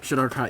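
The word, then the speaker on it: Shadar-kai: Heading towards the desert area, you see a Shadar Kai, I think is how you say it. Right? Yes. Shadar Kai.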